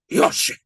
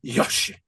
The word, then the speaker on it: Yoshi: Uh anyway, and his name is Yoshi like the dinosaur except it's pronounced Yoshi like that. Very harsh. I was wondering wondering who Yoshi was. Yeah, Yoshi.